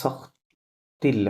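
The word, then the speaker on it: sortent-ils: এখানে সখতিল হবে, কি হবে? সখতিল। Sortil. হ্যাঁ হ্যাঁ, এই টিটা গিয়ে সাথে লিয়াজো হবে, সখতিল। আর ওয়েনতে থাকা সাইলেন্ট ছিল।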